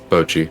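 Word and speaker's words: Bocchi: Is it Bochi or is it Bachi or Baki? Bochi. Bochi, thank you.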